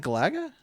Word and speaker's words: Galaga: Could you pronounce that game one more time for Is that Galaga?